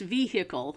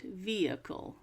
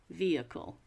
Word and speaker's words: vehicle: many years uh so the H is silent vehicle vehicle which throws up mud